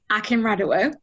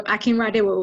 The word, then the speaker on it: Akinradewo: So in an anglicized accent, it's Akinradewo, but it's originally from Nigeria, so Akinradewo would be the pronunciation in a Nigerian accent. But I just say Akinradewo because I was born and raised in Manchester, so yeah, I don't expect people to say it in the Nigerian way.